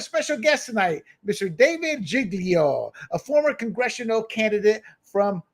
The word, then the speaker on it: Giglio: David, did I pronounce it? Is it Giglio or Giglio?